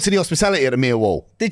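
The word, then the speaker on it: Millwall: They don't pronounce the L's.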